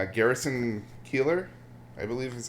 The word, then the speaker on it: Keillor: Garrison Keillor, I believe is how you pronounce it.